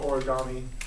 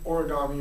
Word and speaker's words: origami: into the Americas so the Japanese word origami or as they would pronounce it origami at Le I hope they pronounce it that way um literally means Ori